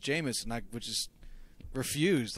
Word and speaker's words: Jameis: of the woodwork, and I kept calling him Jamice, and Pete kept telling me, like Josh, it's pronounced Jameis, and I would just refuse. Like, for his whole rookie season, he was Jamice to nobody but me.